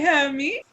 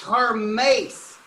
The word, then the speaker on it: Hermes: Hi, Hermes. It's pronounced Hermes.